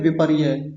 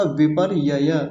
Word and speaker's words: विपर्यय: यहां बता देता हूं कुछ लोग इसका उच्चारण गलत करते हैं बस इतना बोल देते हैं विपर्यय विपर्यय नहीं होता विपर्यय विपर्यय य दो है विपर्यय ठीक से रण